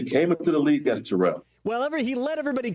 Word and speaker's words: Terrell: Francisco he decided that he wanted to be Terell and pronounced the first syllable of the name so for years throughout history it was always Terrell everybody was Terrell nobody